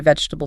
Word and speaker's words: vegetable: Does that apply to vegetable too? It follows a very similar pattern. Looks like vegetable. Four syllables again, but it sounds like sevl v ej tubul. V ej tubul. Three syllables, not four.